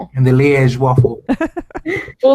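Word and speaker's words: Liège: Lege waffle. I've had that before in Belgium and they are amazing. What makes it a I said it wrong. Leaz.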